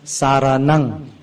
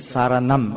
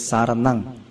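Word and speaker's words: saraṇaṃ: Now in Pali language, the pronunciation, when you see the third word, saranang, the M with the dot at the bottom is pronounced with the NG sound, like Malay NG, like Padang.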